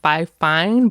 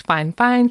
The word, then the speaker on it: Fifine: So, obviously, if you're looking at the writing, it looks like five fine, but I guess it's fine fine.